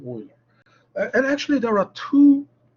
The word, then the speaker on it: Euler: It's very common to pronounce it in German, like exactly Euler.